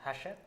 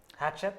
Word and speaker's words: Hachette: This is like cash and cachet and Hachette. Is it Okay, let's cash? just call it Hachette.